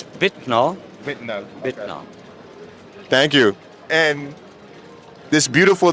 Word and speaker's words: Wittner: name of the company how is it supposed to be pronounced it's vitano thank you and this